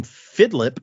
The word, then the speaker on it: Fidlip: So if someday you hear the name Fidlip, pronounced like Philip with a D in the middle, on Patreon one day, even though you give powers randomly.